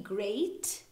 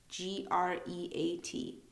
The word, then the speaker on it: great: an a after the O it's just not pronounced it's silent um we'll go on to E so the letter e great sounds like an a t e at the end but really g r e a t great awesome Heist Heist sounds like it's just